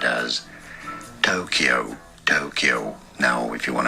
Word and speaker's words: Tokyo: of Japanese, but the way the Japanese say it is Tokyo. So from low to high, it's a heiban pattern. Tokyo ga, Tokyo wa, not Tokyo, like he says.